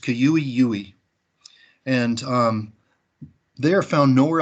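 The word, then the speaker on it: cui-ui: the the qeu II now we usually just say qui oui but in Paiute it's pronounced kua ue and they are found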